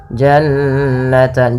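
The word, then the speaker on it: جنتان: harakat kemudian pelfal Jan ada Nun berharakat tasdid maka ini kita namakan dengan gunah bacaan gunah yaitu suara nunnya ditahan dua harakat Janan jannan jangan langsung jannatan sering terjadi tidak menahan gunahnya kemudian ini kembali lagi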